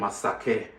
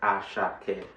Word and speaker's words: Asake: People call him Asake, but you know, Yoruba wise, the name is pronounced as Asake.